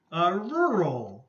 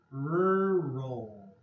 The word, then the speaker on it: rural: Rural. This word is hard, okay? The R's and the L's all together. Okay, so rural.